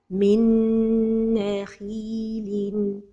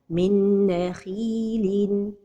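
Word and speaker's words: من نخيل: Min nakhilin. The mistake is to pronounce it without a time for the ghunnah. Min nakhilin. And the ghunnah has time. Minna. So the right pronunciation is min nakhilin.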